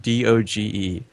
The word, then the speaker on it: Doge: How do I pronounce the word D-O-G-E? By the one true pronunciation, of course, Doge. Any other way is incorrect, in my opinion, and just absolute heresy.